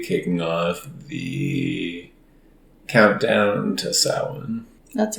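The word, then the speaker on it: Samhain: exciting unofficially officially kicking off the countdown to Salmon that's right you actually pronounced it correctly good job yeah it's only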